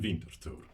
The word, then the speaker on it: Winterthur: Welcome back to mornings in Winterthur. There, that's the correct pronunciation.